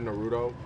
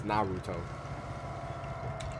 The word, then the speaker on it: Naruto: I think I said Naruto. Some people get upset when you say it like that. It's Naruto.